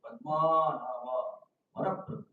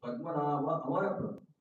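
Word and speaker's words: पद्मनाभोऽमरप्रभुः: And suddenly he heard that when Kundanam is chanting Vishnu Sahasranam, he said, Padma Nava Maraprabhu. So what is Maraprabhu? The actual pronunciation is Padmanava Amaraprabhu. Padmanava means Lord of Lotus eyed Lord.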